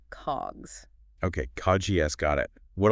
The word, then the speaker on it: COGS: Cod GS for short it's pronounced just like the word cogs okay CGS got it